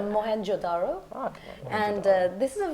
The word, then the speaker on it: Mohenjo-daro: So you watched Mohenjo-daro. You didn't pronounce that? No, but I'll fix it for you. That's your job. It's Mohenjo-daro.